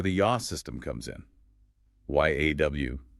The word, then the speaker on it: yaw: Y A W. Pronounced yaw.